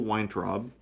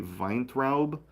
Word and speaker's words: Weintraub: Probably the most interesting, and certainly my favorite character, is Sol Weintraub. Uh, I think the probably correct pronunciation will be Weintraub, but I'm going to say Weintraub because that's just easier to say.